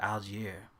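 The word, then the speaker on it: Allgeier: So in the Atlanta side, what y'all think about Tyler Algier? Algier, that's how you pronounce him.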